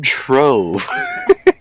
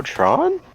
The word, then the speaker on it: Trove: The game Trove. Yeah, it's another Trove game. I'm really looking forward to it. Change the way you're pronouncing the O. Oh, Tron?